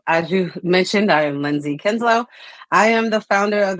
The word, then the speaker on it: Lindsay Kinslow: I am here with Lindsay Kinslow. Did I pronounce that correctly?